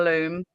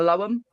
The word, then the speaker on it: Loam: I quite often get echoes from the loom, or those that read it exactly as it's spelt, and I'll get echoes from the loam.